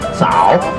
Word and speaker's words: 早: So we just instead of say good morning, you just say one word, 早. Z-A-O. 早 may be a little bit harder for Americans Our to first pronounce.